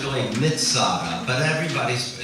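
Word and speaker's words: מצדה: Hebrew wor for Fortress mitada but uh everybody doesn't pronounce the TZ and so so visitors Through The Years instead of saying mitada would say Mada and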